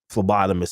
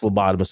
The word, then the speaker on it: phlebotomist: And the first phlebotomist was all like, dude, you're not drinking water and your jokes suck. You got to change it. So, Bobby, did you know the P is silent in lobotomist?